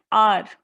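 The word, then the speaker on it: hour: है पहला क्या है used before a silent H जैसे कि एन आर एन एयर an honest boy तो इसमें जो शब्द है जिसे आर जो शब्द है उसमें एच जरूर लगा हुआ है आगे पर उससे हमें आवाज कौन सी आती है हमें ह की आवाज नहीं आती क्योंकि एच उस शब्द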